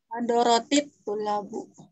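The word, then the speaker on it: حضرت الطلاب: Hadaratut tullabu ya cara bacanya kalau ada jangan hadaratu, hadarati. Hadaratit tullabu. Kenapa perlu kasroh? Karena iltiqa'us sakinain. bertemunya dua huruf yang sama-sama sukun.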